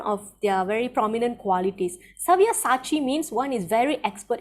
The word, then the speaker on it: Savyasachi: They are already put to death by my arrangement, and you, O Savyasati, can be but an instrument in the fight. Did I pronounce that right? Savyasachi. Yes, correct. Very Sabyasachi.